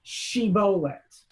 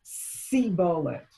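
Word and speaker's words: שיבולת: So they would say the word shibolet, which is a bunch of grain. And they would say, in the accent of Ephraim, sibolet, and they would kill them after the pronunciations.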